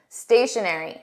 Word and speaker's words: stationery: Let's compare this to stationary. Exact same pronunciation. Notice there is just a spelling difference. stationery.